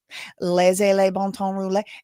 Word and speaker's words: Laissez le bon temps rouler: Laissez le bon temps rouler. And that's Cajun French pronunciation. I don't know how they say it, in real French.